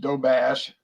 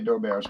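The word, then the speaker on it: Doberge: Our chocolate dough bears, pronounced dough bash. Some people say dough bash. I say dough bears, but anyway.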